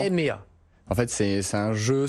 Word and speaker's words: hemea: Ça s'écrit donc H-E-M-E-A. Quand on le voit écrit comme ça, on ne sait pas trop comment le prononcer, mais en fait quand on voit le logo, c'est beaucoup plus simple. Vous avez rajouté un accent, mais sur le M. Exactement. EMEA.